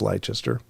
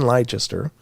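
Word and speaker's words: Leicester: in Lester I I I think that's pronounced Lester sorry if it's not I mean they got that sauce wor sure so I don't know how to pronounce this I think it's liester though uh she is sometimes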